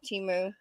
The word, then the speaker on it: Temu: Timu.